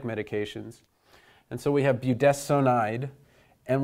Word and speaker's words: budesonide: And so we have budesonide, and we pronounce this S-O-N, not as sun, but as sown.